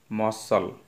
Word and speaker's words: muscle: तो देखंतु प्रथम प्रश्न है, हुईज letter is silent in मसल।